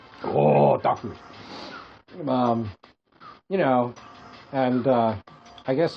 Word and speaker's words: otaku: Wait, isn't it pronounced otaku? Oh, otaku.